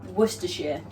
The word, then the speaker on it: Worcestershire: And then to that, we're going to add a splash of our favourite sauce, Worcestershire.